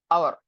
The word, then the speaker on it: hour: as vowel sound, like our. Okay, when we write our or pronounce our, the first letter is h. Still we pronounce it with the sound of a, like our.